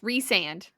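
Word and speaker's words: Rhysand: It was always rice sand, but I would always say Reese. I wouldn't call him Rice cuz I'm like, "That's weird." Rice, but it it's Yeah, it's Reand.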